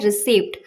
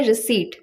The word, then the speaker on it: receipt: इसे लोग मैक्सिमम लोग बोलते हैं रिसीप्ट। ये गलत प्रोनाउंसिएशन होती है इसकी क्योंकि P यहाँ पे साइलेंट होता है। इसकी करेक्ट प्रोनाउंसिएशन होती है रिसीट।